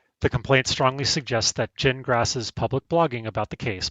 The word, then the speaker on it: Gingras: And three, the blog effectively documents Jen Grass's dispute with the judge and opposing council in real time. In other words, it's pronounced gin like you drink and grass like you mow.